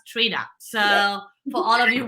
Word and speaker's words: Trini: to make that clear it's spelled with an i but it's pronounced Trina so for all of